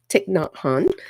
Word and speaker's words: Thich Nhat Hanh: talk about this book tick not Han and somebody on one of my insight timer lives told me how to pronounce his name correctly so I was excited about that tick not hon so um the idea